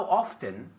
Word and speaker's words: often: Hay gente que dice how often y pronuncian la T, y hay gente que se come la T. Entonces, how often.